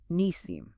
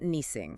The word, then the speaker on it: Nisim: And let's not forget her partner, Nisim. Nisim. Not Nising.